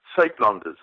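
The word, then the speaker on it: Suidlanders: The UI, it's S-U-I-D to make up the word Suid, or the first part of the word Uitlanders, and it's a sound that doesn't occur in English, so it's difficult to mimic it, and it's okay if people don't get it right, but Uitlanders is the precise pronunciation.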